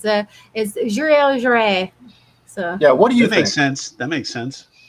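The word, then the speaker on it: Joiry: It's been forever, but it's Juré. So Yeah, what do you That think? makes sense. That makes sense. Jure.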